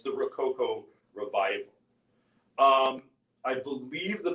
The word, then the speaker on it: rococo: as i understand it ro coco is a very american way of saying rococo but uh i i